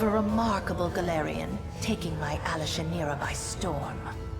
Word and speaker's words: Alashinira: Rumors of a remarkable Gallerion taking my Alashinira by storm. Alashinira. Oh, so that's how you pronounce it.